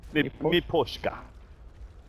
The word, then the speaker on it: Miposhka: Miposhka.